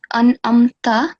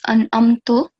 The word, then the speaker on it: أنعمت: So here, this is an-amta, right? Because the ta has the fatha stroke, but you recited it as an-amto.